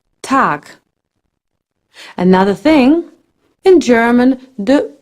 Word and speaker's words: Tag: an English good guten except at the end of a word where it sounds more like a ke tag another thing in German